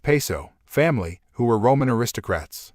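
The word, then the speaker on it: Piso: He writes, the New Testament, the Church and Christianity, were all the creation of the Calpurnius Paizo, pronounced Peso, family, who were Roman aristocrats.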